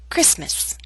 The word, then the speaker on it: Christmas: never say Christmas only Christmas now here's a list of words in which a t- sound is left out note that this list